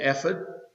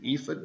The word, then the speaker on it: ephod: Then Micah had a shrine and made an ephod, or an ephod, depending on how you say it, and a household idols, and he consecrated one of his sons who became his priest.